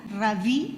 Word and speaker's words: Rabí: Y Rabí, que es en este momento, es el término que está en esta cita, con R pero mayúscula, Rabí, y con acento en la I, Rabí, o Raboni pero con R mayúscula, en hebreo.